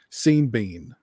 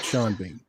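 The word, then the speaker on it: Sean Bean: Uh, Orc pronounces Shawn Bean Seen Bean. So, it's it's seen bean, not sea bean.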